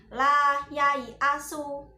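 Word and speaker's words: لَا يَا۟يْـَٔسُ: La yai asu, ya-nya dibaca pendek. La yai asu. Meskipun tertulisnya la yai asu, yai asu, itu tertulisnya ya-nya panjang, tapi kita membacanya tetap pendek.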